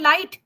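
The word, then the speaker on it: light: यानी बोलते कुछ है जैसे लाइट होता है लाइट एल आई जी एच टी यस स नहीं तो लिखा लिखना है नहीं तो बोला क्यों बोला है नहीं तो लिखा क्यों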